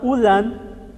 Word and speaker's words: ulan: da da palavra irmãos o aprender a pronuncia do n e do m e do n no final é de suma importância porque uma pronúncia pode significar uma outra coisa por exemplo a palavra Vou colocar aqui embaixo Depois apago ó EAM a palavra ulan significa chuva e a palavra ulam significa carne sim então quando a letra